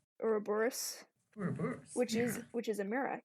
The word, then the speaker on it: Ouroboros: And the Bone Carver will only help if they bring back an artifact to him called I pronounce it Ouroboros. Ouroboros.